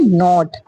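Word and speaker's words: knot: तो यहां पे भी स्पेलिंग क्या है? के एन डबल ई नी। नी मींस क्या है? घुटना। नेक्स्ट है नॉट।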